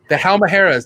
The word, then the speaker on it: Halmahera: The Halmaheras. Did I say it right? The Halmaheras? Halmahera, yeah. Woo.